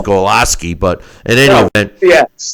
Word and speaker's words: Glowacki: I always thought it was Glowacki, but it's Golaski.